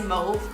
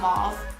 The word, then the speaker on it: mauve: Did you guys know that it is mauve? It's not mauve. I always thought it was mauve, and every time I heard someone say mauve, I was like, it's mauve, you're totally saying it wrong.